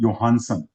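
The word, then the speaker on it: Johannsen: He worked with Punnett, and then William, again, here nothing if we pronounce it will be Johansson, not Johansson.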